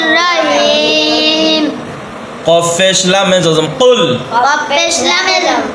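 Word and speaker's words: قُلْ: সূরাতুল কাফিরুনা মাক্কিয়া বিসমিল্লাহির রাহমানির রাহিম বিসমিল্লাহির রাহমানির রাহিম কফ পেশ লামে জজম কুল কফ পেশ লামে যম কুল কুল কুল কফের উচ্চারণটা এভাবে বলতে হবে কেমন?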